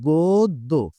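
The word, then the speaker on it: গদ্য: এবং আরেকটা সূত্র হচ্ছে যখন আমরা অ এর পর পরবর্তী ব্যঞ্জনে যদি কখনো জফলা দেখতে পাই, তাহলে ১ম এ আমাদেরকে কিন্তু ওকার উচ্চারণ করতে হবে শব্দটা যদি হা বোধক হয়। শব্দটা যদি হা বোধক হয়। আচ্ছা তাহলে আমরা এটার উচ্চারণটা হচ্ছে গোদ্দ।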